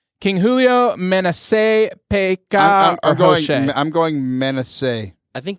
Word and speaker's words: Hoshea: not Jose, it's Hoshea, and I don't know if I'm saying that gosh.